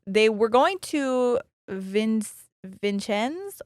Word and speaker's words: Vincennes: were going to Vince Vincenz or Vincennes Indiana I looked up the French way to say that but this is America so they probably butchered it but that's where their